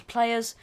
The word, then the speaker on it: plrs: it PL RS okay just a shortened version of players I'll pronounce as players this is a table